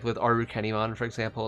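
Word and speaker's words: Arukenimon: like that like with aru kennymon for example like it's definitely arachne mon but they would pronounce arachne in japan as aru kenny so it makes sense but uh okay so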